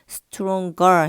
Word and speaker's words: stronger: ng로 끝났을 때 er이 붙는 경우에는 stronger 해가지고 g 발음을 살려주는 경우가 뭐 많아요.